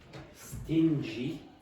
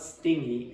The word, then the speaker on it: stingy: You can say stingy, and the pronunciation is not stingy, it's stingy.